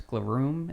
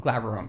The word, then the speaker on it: Glaurung: I'm gonna pronounce it wrong. Is like when you kill a dragon, it's Glaroom. Is that how you say? Glaurung.